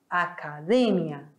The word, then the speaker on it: academia: tônica é Me academia quando nós passamos para língua espanhola a escrita é igual academia mas a pronúncia é diferente acadêmia académia Certo meus amores Então repitam